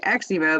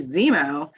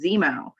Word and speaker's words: Xeemo: incorrectly this entire time because i've been saying xevo but it's really zemo and i apologize for that so but it is spelled like exempo i just it but it's pronounced zemo it's just pretty it looks kind of like